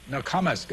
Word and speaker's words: Nokomis: That's the way you pronounce it? Nokomis.